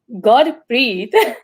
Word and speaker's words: Gurpreet: religion holiday so yes my name is pronounced god breathe so you're going to